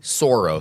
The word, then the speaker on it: Sauros: I was pronouncing it Sauros. So S-A-U... Dinosauros. R-O-S. Yeah. Yeah. Soros. I like that. Dinosaur-themed Sauros.